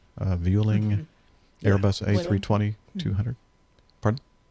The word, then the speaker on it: Vueling: Vueling Airbus A320-200. Pardon? Whaling?